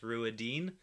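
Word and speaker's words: Rhuidean: Oh, also, to make people angry, Ruidian in the audiobooks is pronounced Ruidine. I say Ruidian.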